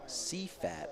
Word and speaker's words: CFAT: Pronounce CFAT as a word, not letter by letter.